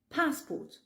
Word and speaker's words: passport: Passport. Fais attention parce qu'en français, on accentue la dernière syllabe et en anglais, on accentue la première.